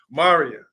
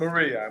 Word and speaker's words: Mariyah: This is youngest sister Mariyah, not Yes. Maria.